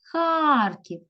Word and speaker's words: Харків: склад молодці дивимося слово назви міста Харків Харків Харків куди падає наголос правильна на а поставте будь ласка це